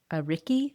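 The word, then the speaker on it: ariki: And the chief is called an a ricki. I think I'm saying it right. It's a r i k i. Ricky, I would imagine how you say it.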